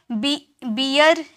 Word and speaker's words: bear: बियर का मतलब होता है र, जो आधा आपको जो लास्ट में र रहता है ना, उसे आधा में प्रोनाउंस करते हैं डियर, नियर, वेयर, बियर।